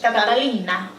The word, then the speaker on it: Catalina: Catalina.